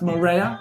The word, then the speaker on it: Moreira: Is it pronounced Moreira?